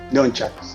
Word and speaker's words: nunchaku: to me was the nunchaku. Is that how you call it? Nunchucks. Nunchuck. Depend how you pronounce it, and depend what country are you from. People certain country pronounce it differently.